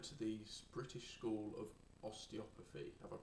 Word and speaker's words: osteopathy: You went to the British School of Osteopathy. Have I pronounced that right?